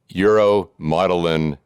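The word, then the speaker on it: uromodulin: And it wasn't until 2016 that genetic testing revealed the cause of kidney disease in your family, uromotilin kidney disease. Did I pronounce that correctly?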